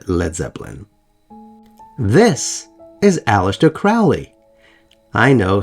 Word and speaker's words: Crowley: I know, some people pronounce it Crowley. I'm not saying Crowley. Crowley. Crowley's better. Crowley? Crowley sounds like I don't know what the hell I'm talking about. I know it might be Crowley. He may have pronounced it Crowley. Supposedly there are recordings of him pronouncing it as Crowley.